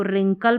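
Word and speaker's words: wrinkle: है इसको रिंग पढ़ा इसको रिंकल पढ़ा डब्ल्यू को छोड़ा इसको रिस्ट पढ़ा इसको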